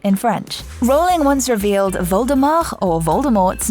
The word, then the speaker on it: Voldemort: french rowling once revealed voldemort or voldemort's name literally translates as flight from death and its last letter shouldn't be pronounced as jk wrote on